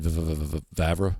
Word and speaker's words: Vavra: I have a couple, Brian Vavra, as that's a joke, like Brett Favre, how you say it?